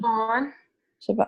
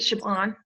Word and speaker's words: Siobhan: I don't know how do you pronounce her name? Siobhan.